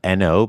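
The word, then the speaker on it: Oeno: Um, and it's called N O beer. Um, so O E N O.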